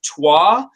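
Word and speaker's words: Troyes: are from the line of games that are pronounced tois it's it's true it's spelled t ro y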